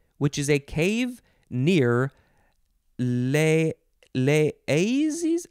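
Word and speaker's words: Les Eyzies: Okay, so it is from Cro-Magnon, which is a cave near Les Aises?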